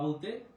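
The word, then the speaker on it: ب: বা ওয়াও বা ওয়াও বা বলতে ঠোঁটটা দুইটা ঠোঁট একসাথে মিলে যাবে।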